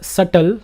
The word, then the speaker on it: subtle: change was so subtle the word is subtle the B is silent any idea what do